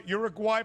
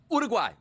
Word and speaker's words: Uruguay: Give us our Uruguay pronunciation that we need to know ahead of Wednesday night Uruguay.